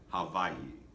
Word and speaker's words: Hawaii: Actually, the W is pronounced like a V. Hawaii.